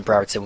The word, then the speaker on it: Brereton: suddenly discovered that Ben Brereton was actually quite good as well, but he couldn't say his name properly. He kept dropping the first R in his name, and it was driving me mad.